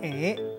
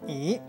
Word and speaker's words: 楹: 回来看到字读作 “ 诶 ”，“ 诶 ” 加拼音读第五调，读作 “ 诶 ”，冇人读作 “ 咦 ”。